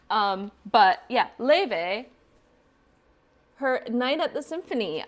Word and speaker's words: Laufey: Oh, I'm gonna look up how to say her name. This is ridiculous. Laufey. Okay, that's so much easier than whatever crap I was doing. Laufey.